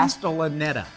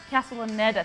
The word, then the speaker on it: Castellaneta: Dan, can you pronounce that? Someone in the back room? Castellaneta. Castellaneta, thank you.